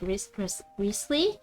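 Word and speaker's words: Wriothesley: I mean, like, it is pronounced as like Risley, like Risley, like, cause you don't. It's like, Worcestershire sauce. You don't say like majority of those letters.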